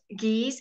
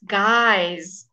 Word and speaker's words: guys: don't actually you're right it's not jeez it's guys guys guys guys okay same